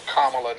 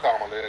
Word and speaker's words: Kamala: whenever people do that it's Kamala not Kam that's a kive person